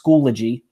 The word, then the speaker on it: Schoology: to you know set the record straight it's pronounced Schoology and what Schoology is is it's a learning